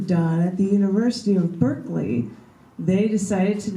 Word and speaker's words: Berkeley: side of the pond, the Brits have a different way of saying things, including the name of the Anglo-Irish philosopher George Berkeley. That's B-E-R-K-E-L-E-Y, like you're barking, Berkeley, you're barking up the wrong tree.